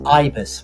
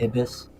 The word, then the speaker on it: ibis: Okay, first thing, it's ibis, right? Not ibis. It's Ibis, yeah. Huh? Okay. I mean, different cultures pronounce it differently.